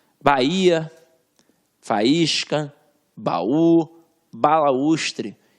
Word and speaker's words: Bahia: Bahia, faísca, baú, balaústre. E repara a pronúncia. Ba e a. Viu que eu separei?